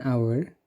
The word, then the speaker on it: hour: Akan tetapi pada pembacaan atau pelafalan katanya dalam bahasa Inggris menggunakan kata hour. Jadi tidak ada bunyi H.